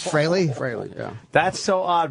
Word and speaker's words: Frehley: it's I would fry freely admits that Frey is the proper pronunciation it it is fry Frey yeah that's so